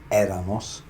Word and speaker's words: éramos: ella, usted era, nosotros éramos. Notice the accent there, so the pronunciation has to be éramos.